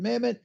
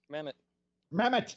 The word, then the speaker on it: Mamet: But I love David Mamet. He writes a great script, and Sean Connery. Say it like you should say it. Mamet. It's Mamet.